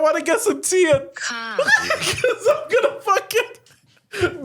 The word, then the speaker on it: Kahk: But also, this is how Google pronounced the word cock. That's how I'm reading it. Right? Kahk.